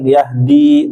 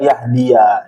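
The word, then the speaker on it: يهدي: Itu dibacanya faqalu apa faqalua? Nah, sama kayak ya-nya tadi ya. Jadi sama kayak tadi yang pada tanyain Yahdi, bukan Yahdia ya.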